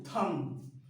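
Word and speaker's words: thumb: से पहले क्या है नेक्स्ट थंब थंब नहीं तो बी क्या होगा साइलेंट होगा थंब नहीं थम क्या थंब इसे पढ़ेंगे थंब तो इसका मतलब क्या होता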